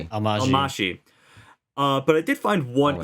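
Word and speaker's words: Almásy: Almashi.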